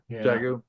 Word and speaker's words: Dagu: it again D Dagu is that how you pronounce it Dagu like the pasta sauce it is it's there